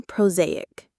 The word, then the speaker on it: prosaic: The reality of a long-term relationship is often prosaic. Proaic. The stress is on the second syllable. Z.